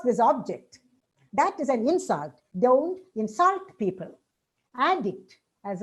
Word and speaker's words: insult: And the stress shift, say insult on in, and you pronounce it as insult when it is a noun. But as a verb, we pronounce it as insult, insult.